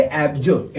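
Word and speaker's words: abjure: हमारा 18वां वर्ड जो है इसे हम लोग कहेंगे एब्जर्व। 18 वर्ड जो है ये हमारा एब्जर्व। इसका स्पेलिंग क्या है?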